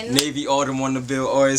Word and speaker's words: NavyAutumn: You gotta type in Navy Autumn. Navy like the color, Autumn as, of course, the weather. It's spelled exactly how it's pronounced.